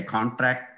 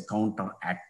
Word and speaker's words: CounterAct: Sometimes my CounterAct pronunciation will be sounding like a contract. Excuse me, it is a CounterAct Program.